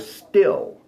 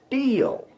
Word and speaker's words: steel: He's building a building out of still. No, it's steel. It's a long e sound, but everybody's doing a short I.